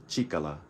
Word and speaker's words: 力: Force this word right here by itself is pronounced chicala and it means power and strength I believe